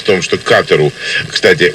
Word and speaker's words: Катар: Дело в том, что Катару, кстати, ударение в названии этого Эмирата падает именно на первый слог, прописали катарсис, то есть оздоровление или очищение.